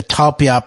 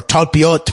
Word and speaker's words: Talpiot: You combine that with the Talpiot program, or Talpiot program, I've now found out it's pronounced, in combination with the